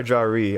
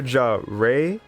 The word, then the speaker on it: Jari: So you're Jare, like Ray the Squirrel from Sonic. I want to make sure I'm saying it right. Second one, Jari.